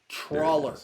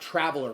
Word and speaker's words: Trawler: Boggart. Trawler, not traveler.